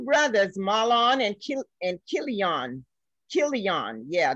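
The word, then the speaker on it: Chilion: malone and kill and kill eon yeah the c is pronounced as a k i'm told uh the definition of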